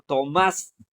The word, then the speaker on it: Tomás: La la centuación o la sílaba tónica no está más, está en to. To to má. En cambio, el otro Tomás. La acentuación está en más, o sea, la sílaba tónica es más.